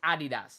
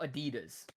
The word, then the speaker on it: Adidas: have problem with is it's Adidas not Adidas it's so you say Adidas Adidas that's how you say it that's how you say it yes say Adidas it's literally Adidas bro